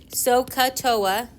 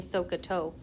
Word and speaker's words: SOHCAHTOA: SOHCAHTOA is how we tend to memorize them. It sounds like you're saying SOHCAHTOA, right? SOHCAHTOA. You're not soaking a toe.